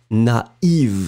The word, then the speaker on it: naïve: first A, na, and then separately you will pronounce the I, naïf, naïve.